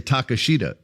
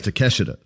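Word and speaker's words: Takeshita: his name cuz it looks like an American would say Takashida but it's Teesha.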